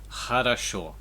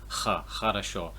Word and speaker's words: хорошо: It's just important to remember it's a H sound. It's not an X.